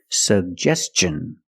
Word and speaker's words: suggestion: and up S sug we have two G's and we're going to pronounce both of them the first G is a hard G sound sug and the second G is the J sound like juice and jump pronounce both sug justest suggestion and T N the T makes the ch sound so together suggestion suggestion put the stress on the second syllable he made a suggestion